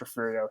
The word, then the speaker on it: Refugio: I know there's a G in there, but it's pronounced Refugio.